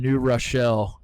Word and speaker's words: New Rochelle: we have New York City Catholic Church, Adidas, and Rick Pitino are all four coming together in New Rochelle.